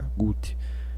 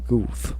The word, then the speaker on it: Guth: próprio Alan Guth falando sobre Alan Guth, A-L-A-N-G-U-T-H, Guth, né, o Guth, que pronuncia, enfim.